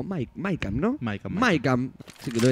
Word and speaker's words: MAYCAM: Ahí los fanáticos dicen Mecha o Mecha. Yo creo que mayoritariamente se dice Mecha. La pronunciación en realidad es Mecha.